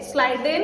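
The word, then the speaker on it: Schleiden: बच्चों प्लीज इसको याद कीजिए, 2 साइंटिस्ट हैं, नाम याद करेंगे ऐसे, स्लाइडेन एंड श्वान। मेरे साथ प्रोनाउंस करो, ठीक है? स्लाइडेन एंड श्वान, ये इन्होंने दिया।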